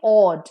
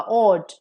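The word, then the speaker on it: awed: the slight difference है first A डब्लू ई डी ऑड is like ऑड थोड़ा सा लंबा प्रोनंसिएशन होगा ऑड second is ऑड short pronunciation तो ए डब्लू ईडी ऑड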